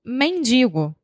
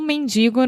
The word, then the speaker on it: mendigo: Bom, então, essa expressão foi criada, aparentemente, no século XX, com um mendigo no Rio de Janeiro. E esse mendigo, vocês estão percebendo o meu sotaque, né? Eu não falo mendigo, eu falo mendigo.